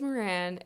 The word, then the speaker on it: Meran: My name is Meran, pronounced like Miranda, but without the da.